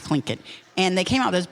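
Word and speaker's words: Tlingit: t I believe and but it's pronounced clink and they came out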